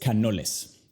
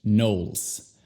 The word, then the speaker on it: Knowles: No es Canoles, es Knowles. Knowles. Se pronuncia igual que el verbo know en inglés. Simplemente agrega una L y S.